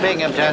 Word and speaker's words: Binghamton: That's a Binghamton. There's no P in that. The accent is on the Bing.